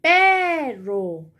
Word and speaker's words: perro: Pero, usted no dice perro, ¿verdad? Usted dice perro.